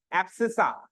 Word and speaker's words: abscissa: एब्सिसा। क्या बोलते हैं इसको?